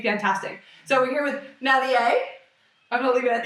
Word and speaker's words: Malie: So, my full name is Malier. Yeah. So, you can say it like Somalia though, right?